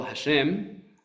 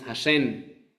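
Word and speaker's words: השם: Entonces, en lugar de decir, por ejemplo, hashem, decimos hashen con n.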